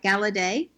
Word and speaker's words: Galaudet: Now, Devin, I'm going to see if I can say it right, Galaudet, yes?